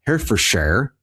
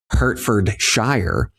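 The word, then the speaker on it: Herefordshire: going to be at Hair for Share. I don't know if that's how you say it. I'm new to this European thing, this European thing. If you're American, the way that it's spelled and the way that we would say it is Herford Shire, uh, England.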